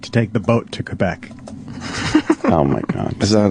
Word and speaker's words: Quebec: Quebec, as Alex Trebek says. Quebec. That's how it's in pronounced.